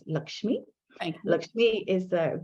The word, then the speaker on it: Lakshmi: that is okay well i'm going to pronounce it the indian way which is lakshmi okay look me is